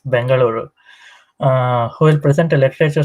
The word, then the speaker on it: Bengaluru: I guess I'm supposed to pronounce it as Bengaluru.